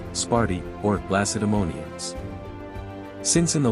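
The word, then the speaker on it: Σπάρτη: Interestingly, in modern Greek both the city's name and the name of its mythical founder are pronounced almost identically, Sparti.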